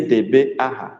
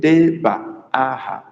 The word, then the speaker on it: debaaha: I didn't say debeaha. I said debaaha.